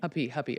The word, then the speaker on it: Huppy: Huppy, it's like puppy. Huppy.